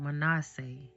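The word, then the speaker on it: Manasseh: So, I just wanted to correct some of the names that I mispronounced, which are Potifera, Manasse, and Ephra. Joseph's firstborn Manasse and his second born Ephraim and the priest Potifera.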